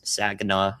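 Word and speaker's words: Saginaw: It again it should stay south to the the Tri Cities, the southern of the Tri Cities, Sagena, sorry for mispronouncing it earlier.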